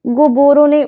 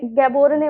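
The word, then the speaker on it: Gaborone: Windhoek ठीक Botswana गोबोने इसको इस गोबोने गैबोरने बोलते हैं सॉरी बोट्सवाना की कैपिटल है गैबोरो ने गैबोरो गैबोरोने बोट्सवाना आपके Z1 Z2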